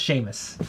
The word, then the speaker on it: Seamus: yeah Sheamus they probably you say Seamus Seamus it's spelled Seamus is pronounced Sheamus little baby Sheamus remember